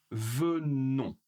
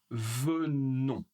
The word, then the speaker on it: venons: Nous venons. Nous venons encore une fois on ne prononce pas le s pour vous.